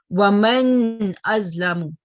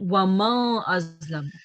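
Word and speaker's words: وَمَنْ أَظْلَمُ: Waman azlamu, not wama azlamu.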